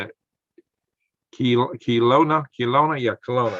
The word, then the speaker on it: Kelowna: Kelowna, yeah, Kelowna.